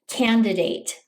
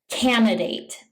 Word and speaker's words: candidate: Some English speakers mispronounce this word by saying candidate. It has an extra D sound in it.